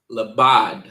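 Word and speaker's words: לבד: And in the Hebrew, it is pronounced labad.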